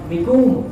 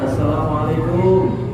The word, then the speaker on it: assalamualaikum: Atau mikum atau begitu. Mikum itu bukan assalamualaikum, nggak ada, ya, nggak punya arti yang bagus. Atau kum, ya, ucapin salam yang benar, assalamualaikum.